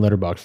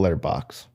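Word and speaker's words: Letterboxd: Also, I just call it letter box. I dropped the D.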